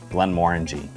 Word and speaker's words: Glenmorangie: I like to remember this one by saying, it looks orangey, it smells orangey, Glenmorangie.